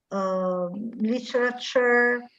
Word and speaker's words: literature: Allora, innanzitutto future, la finale char si legge char, future, nature, literature, questo finale ture diventa char, future.